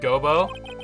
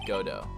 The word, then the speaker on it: Godot: uh well then prosecutor gobo it's not gobo it's godo your honor so it okay so